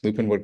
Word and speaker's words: Lupinewood: Uh uh Lupin Wood correct? Lupin Wood Collective, sorry about that earlier. Um the Lupin Wood Collective where where folks can find that store.